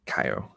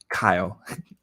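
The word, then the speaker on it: Caio: like is this chao so this is kaio so that's that's my name but in english i pronounce kyle because it makes easier for you i guess uh it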